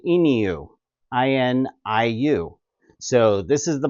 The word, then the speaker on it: INIU: I mispronounced it before, but it is pronounced INIU Power Bank.